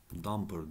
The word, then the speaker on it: dumper: damper kelimesini de öğrenelim O da dumper diye geçer şu dur damper damper Hadi bunu da yazalım damper diye okunur Ya bildiğimiz damper Buna da